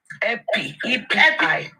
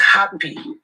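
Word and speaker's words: EpiPen: Epinephrine, EPI, pen. Epi is not pronounced happy. It's pronounced epi, EPI.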